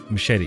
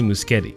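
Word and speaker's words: Muschietti: The Flash director Andy Machete. Is it Machete or Muscet? I've seen people or heard people say his name very differently. He looks like Machete, but some people say Muskeetti.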